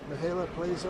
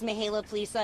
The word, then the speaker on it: Mihaela Plaza: Chair of this group, Mihaela Plaza. Am I close, Mihaela? Thank you so much, Was that close in pronunciation? Yes, you did very well. Thank you. Good morning, everybody. My name is Mihaela Plaza, and I proudly serve